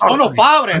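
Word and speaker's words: Sonus Faber: It's Sonos Faber, man.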